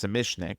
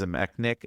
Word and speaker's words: Zamecnik: Zamecnik, and in older commentaries I always called him as a Mac Nick, it's Zamecnik. I said it wrong and then I'll fess up to it.